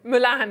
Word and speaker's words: Mulan: But you pronounced it slightly differently just then, I think. Mulan.